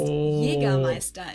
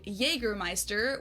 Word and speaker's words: Jägermeister: From shoes to alcohol, this is pronounced Jägermeister in German. Jägermeister. English speakers usually say Jägermeister, which is pretty much the same just with a pretty thick accent.